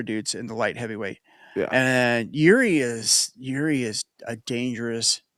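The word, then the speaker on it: Jiří: Just His first name is J I R I, so just Yuri.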